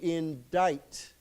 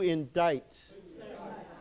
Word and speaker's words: indict: Remember this word, we do not pronounce the C. So we say to indict. Okay. So why don't we say it together? To indict.